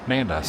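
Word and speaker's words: Nando's: something it's not necessarily is phonetically how it is spelled but yeah nandas all right got my leftovers with me have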